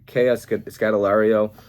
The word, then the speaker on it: Scodelario: Kea Scodelario. I think that's how you pronounce her last name, but I really like her as an actress.